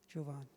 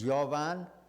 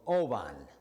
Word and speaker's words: Jovan: name is jovan okay many people have a hard time pronouncing my name so you can pronounce any way you want you know uh jovan usually drove on i had a professor in jamaica who called me ovan and oban is an animal in my country and i went and